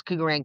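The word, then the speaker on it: Kugarand: So, Kugeran is my company's name is Kugeran Capital Holdings. Sounds like gold, but not spelled like the gold coin. It's k u g a r a n d, right?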